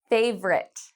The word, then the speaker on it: favorite: How many syllables do you think it has? If you said interesting, you are correct.